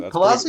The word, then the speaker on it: Pilarczyk: Pilarczyk. Is that how you pronounce his last name? Pilarczyk? Yes. It's close That was actually spot on.